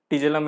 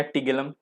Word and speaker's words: tigellum: टिजेलम या टिगेलम, जैसे आपको मन वैसे प्रोनाउंस करो, बस याद रहना चाहिए।